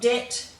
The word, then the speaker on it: debt: in the following ones we have a silent b so you'll find it very difficult to pronounce that b um that's why it's become silent over time so we've got debt doubt subtle succumb and